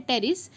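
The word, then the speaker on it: Pteris: एक फर्न है जिसको बोलते हैं टेरिस, पी साइलेंट है टेरिस।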